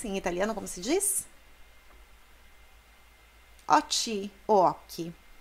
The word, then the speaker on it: occhi: Occhi, occhi. Occhi, tem o H, então o som é duro.